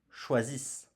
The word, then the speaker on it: choisissent: Il elle choisissent. Choisissent. I s e n t choisissent. Et attention, nous ne prononçons pas NT comme pour les verbes précédents.